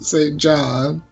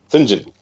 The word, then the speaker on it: St. John: The fabulous fabulous Tim Curry as Edward Watson St. John. You have to pronounce it right. Edward what's it? Singinjen. Singen.